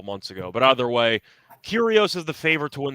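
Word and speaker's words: Kyrgios: pronounce it as yeah I believe the g is silent which I learned a couple months ago but either way curios is the favorite to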